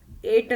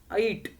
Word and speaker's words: ऐट: चौथं होतं ऐट. एट नाही म्हणायचा, ऐट. ए असतो त्याच्या डोक्यावर मात्रा नसते, हा ऐ आहे, ऐट.